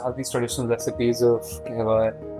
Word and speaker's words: Kehwah: Sachet Koul with us, and he is leading a brand which is a Kahwa manufacturer, and you pronounce it as Kehwah, right?